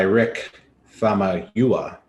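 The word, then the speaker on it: Rick Famuyiwa: spoiler-free reactions uh for this episode directed by rick fama huwa that's the pronunciation of his name i wrote it down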